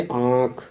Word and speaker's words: आँख: जैसे आँख, तो आप जब आँख में आँख का उच्चारण करते हैं तो आपको हल्का साउंड नाक से भी सुनाई देगा और मुंह से भी।